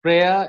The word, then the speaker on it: prayer: Y is very rarely silent, but in prayer it is silent.